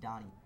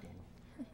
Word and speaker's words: Donnie: Before we get to the improvisation guests, Ian, it's pronounced Donnie, not Danny.